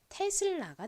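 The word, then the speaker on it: Tesla: 뭔가요 같이 읽어 볼까요 가장 앞에는 티 소리 그리고 2는에 소리 나죠는 시옷 소리 나는데 뒤에 L이 붙었습니다 이렇게 자음의 뒤에 L이 붙으면 그 자음의 소리에 밑에 어 소리를 넣어 주시면 돼요 그래서 테슬이 됐고요이의 뒤에 또 모인 a 나왔죠 그러니까은 한 번 더 소리가납니다는 아 소리가 나서 연결하면 테슬라가 되죠 테슬라 이 테슬라는 이름은요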